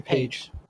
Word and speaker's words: Paige: that yeah that's a page page with an i p a i g that's what it's usually